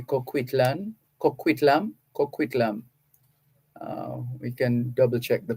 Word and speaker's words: Coquitlam: the home of Ed and Shirley Chang in Coquitlam. Let me see if I'm getting it right. Coquitlam, or maybe in America they would say Coquitlam. We can double check the pronunciation, but it's Coquitlam in British Columbia, Canada.